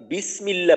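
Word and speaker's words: بسم الله: আলিফ থাকে আল্লাহু কিন্তু যখন আমরা বিসমিল্লাহ পড়ি বিসমিল্লাহ তো ওইখানে কিন্তু আলিফটা আর উচ্চারণ হয় না আলিফটা লেখার মাঝে ওই ওইখানে বিসমিল্লাহর যে লেখা হয় ওই লেখার মাঝে আলিফটা থাকে কিন্তু পড়ার মাঝে ওই আলিফটা থাকে না পড়ার মাঝে না থাকলে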